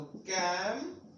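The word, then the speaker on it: camp: तो क जैसे प्रोनाउंस होगा when it comes before any other letters apart from EI Y, उसमें न हो तो वहां पर हमें क का प्रोनाउंसिएशन करना है। देखिए A, EI Y नहीं होगा, उसको छोड़ के कुछ भी हो सकता है, तो यहां पर हम बोलेंगे क, तो कैम्प।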